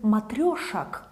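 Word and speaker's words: матрёшек: So we pronounce it matryoshak, matryoshak, like o, yeah, maybe unstressed o like a, but we write matryoshek, okay?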